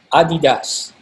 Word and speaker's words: adidas: of three stripes okay it's pronounced adidas okay anyway it doesn't matter how you pronounce it but okay that's how it's pronounced okay uh i've been